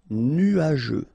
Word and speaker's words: nuageux: Final X not pronounced, and then G-E-U, je. Nuageux.